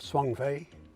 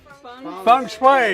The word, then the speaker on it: feng shui: Isn't that a part of Swang Fei? What's Swang Fei? What's Swang Fei? I can't even say it right now. That where you get a room arranged all just right. Feng Shui.